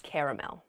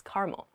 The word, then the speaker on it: caramel: kind of candy is caramel uh just depends on where you're from apparently in the east the east coast they say caramel on the west coast it seems we say caramel that sounds about right